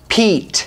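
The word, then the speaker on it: Piet: one more this is the crkt vox design pete we figured that out today it's spelled p-i-e-t and i want to be clear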